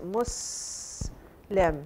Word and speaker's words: Muslim: are Arabic word and the pronunciation is Muslim it's a soft s if lamb Muslim an